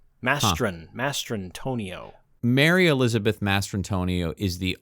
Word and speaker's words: Mastrantonio: I've always said her name as Mastriantonio. I've been getting her name wrong for since The Abyss. I've never known her name. Mastrantonio.